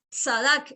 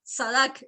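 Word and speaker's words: צדק: probablemente pase nuevamente entonces le advierto que no estoy pronunciando con una t y una s salac sadaq y al final va con k sadaq listo esa es la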